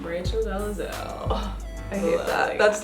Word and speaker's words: Rachel Dolezal: Rachel Dolezal.